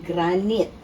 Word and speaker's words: granite: aking countertop ay granite ah sabi daw correct pronunciation a granite so sa granite top ng inyong counter sa